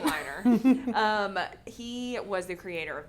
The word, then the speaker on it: Weiner: And then Matthew Weiner, could be pronounced Wiener, but I think it's Weiner.